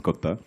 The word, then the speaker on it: Kotha: guys to tell them it is King of Kotha and not the usual Hindi pronunciation. So it's in the film Kotha, in Malayalam it's Kotha.